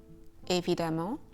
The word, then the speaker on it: évidemment: Évidemment, obviously, fréquemment, frequently, patiemment, patiently. And the same pronunciation can be found in the word femme, the French word for woman or wife, une femme.